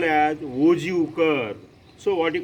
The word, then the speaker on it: ogive: So the term OGU is generally pronounced as OGU, and it is derived from the word OG.